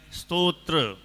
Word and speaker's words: स्तोत्र: हाँ, इसका उच्चारण भी ध्यान रखना। कई लोग स्तोत्र कर देते हैं, कई लोग थोड़ा ज़्यादा ही सुधारने के चक्कर में स्रोत कर देते हैं। ना तो स्तोत्र है और ना स्रोत है, तो क्या है? स्तोत्र। थोड़ा सा साइलेंट बोलना है।